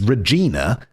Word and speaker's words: Regina: Because the obvious pronunciation is Wait, Regina. Wait, is it Regina? It's Regina.